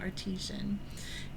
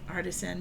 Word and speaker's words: artisan: artisian and you know you might say also Artisan that could be another way to pronounce it but usually we kind of go artisian even though Artisan does is a little bit more phonetic I spent a lot